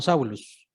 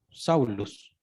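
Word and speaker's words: Σαῦλος: Y Pablo, bueno, no, Saulo, en griego, pues se pronuncia algo así como Saulus. Saulus.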